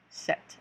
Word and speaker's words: sept: get into it so seven would be set like you set the table set set that's seven so we'll go from